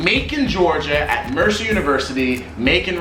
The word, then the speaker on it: Macon: Macon rhymes with bacon, so you can imagine how exciting of a place it was.